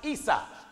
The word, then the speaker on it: Isa: In Arabic, Jacob's brothers Esau is pronounced Isa.